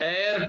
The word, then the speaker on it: heir: Next, he is an heir to his ancestral property. An heir. H is not pronounced here also. That's why we should say an heir.